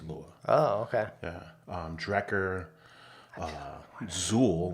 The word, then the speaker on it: XUL: Drecker, Zool, which is spelled XUL.